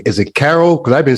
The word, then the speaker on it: Karoul: the palace and uh is it or Carol you know I answer to both um because the probably is not a correct uh pronunciation so good old Italian I pronounce it neither I pronoun Carol but I answer to Karu and and I've had people call me and I mean it